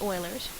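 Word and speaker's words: Euler: meet okay so um Oilers theorem this this is pronounced Oilers states that the faces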